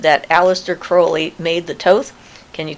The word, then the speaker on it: Crowley: I'm going to say the name is actually pronounced Crowley. That's the way his father pronounced it. They had beer or ales or something, Crowley ales. Anyway, that was the family pronunciation of his name was Crowley. He said, "Those who wish to treat me foully call me Crowley." He said, "Call me Crowley because I'm holy."